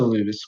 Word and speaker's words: Louvre: Is that how you pronounce it? Yeah, Louvre.